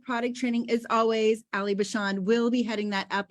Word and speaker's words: Bachand: I was like, is it Ali Bachand? She was like, no, it's Bachand.